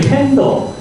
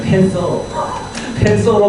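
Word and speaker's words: Panther: 헬기는 이제 정식 이 기종은 AS565MB라고 하는 기종이고 이건 이제 일명 속칭 애칭으로 부르는 게 팬더. 이것도 TH 발음이기 때문에 어떤 때는 팬서로 나오기도 합니다.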